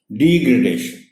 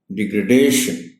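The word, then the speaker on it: degradation: वो ये है कि वो स्ट्रेस पहली डी पर दे जाते हैं। डिग्रेडेशन, ये गलत होता है। स्ट्रेस इसमें दूसरी डी पर है, यानी डिग्रेडेशन।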